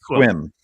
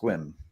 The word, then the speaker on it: Sequim: it here there's Sequim s EQ UI M pronounced Sim no it's pronounced squim really yeah how many Indian names do we